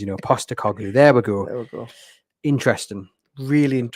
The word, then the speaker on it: Postecoglou: Brief word on Spurs appointing Ange Postecoglou. That was not how you pronounce his name. Postecoglou. Close. Postecoglou. I'm getting better. I'm terrible with big names. Postecoglou.